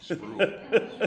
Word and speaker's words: Spruill: Spruill. He said spruill like drool.